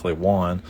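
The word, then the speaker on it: Juan: I read it back I see j-u-a-n I say oh that's that's one you know I get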